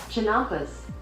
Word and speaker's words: Chinampas: Et là, attention à la prononciation, des Chunampas. Chinampas.